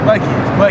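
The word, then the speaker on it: Buckeye: My name, what it is, Bucky, but it's spelled B-U-C-K-E-Y-E, you know, man, so shit. The last E silent on that bit, man, I'm Bucky, man.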